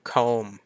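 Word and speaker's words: comb: อย่าง เช่น คำ แรก com สังเกต นะ มัน คือ c o b แต่ ตัว B ไม่ ออก เสียง ใช่ ม ก็ อ่าน เป็น ม เฉย ๆ แปล ว่า หวี คำ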